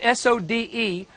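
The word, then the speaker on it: סוד: The fourth level is called, it's spelled in English, S-O-D-E, but it's actually the word sod, and it is the word for mystery.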